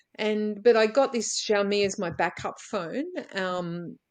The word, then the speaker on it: Xiaomi: Kate, Xiaomi, Xiaomi.